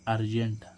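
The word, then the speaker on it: urgent: में क्या पढ़ा था जब भी कोई वर्ड यू से शुरू हो और उसके बाद दो व्यंजन यानी कि कंसोनेंट आए तो इस यू का उच्चारण क्या होता है आ अब जैसे हम देखें इसमें यू आर जी ई एन टी तो इसको हम क्या पढ़ेंगे अर्जेंट अर्जेंट मींस क्या होता है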